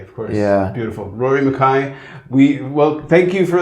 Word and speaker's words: Mackay: name m maai of course yeah beautiful Rory Makai we well thank you for letting letting me